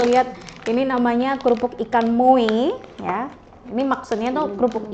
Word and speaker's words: MOE: eh kerupuk ikan apa nih bacanya mu mu MUI mu jadi di sini e pemirsa bisa lihat ini namanya kerupuk ikan MUI ya ini maksudnya tuh kerupuk ikanmu gitu loh